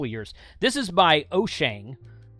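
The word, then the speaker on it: Wouxun: This is by Oshang. The way you're supposed to say that is Ocean or Oshang, depending on who you listen to.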